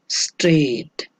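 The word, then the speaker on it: straight: तो GH का जो है इसमें साउंड जो है वो नहीं आ रहा, तो आप GH को अंडरलाइन करेंगे क्योंकि GH साइलेंट है।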